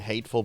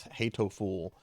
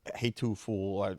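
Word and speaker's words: Hatoful: Uh be playing Hateful Boyfriend. Okay, it's not hateful boyfriend. It's hatto fool or hatu fool. I I can't say it correctly, but it's not like a hateful narcissistic boyfriend.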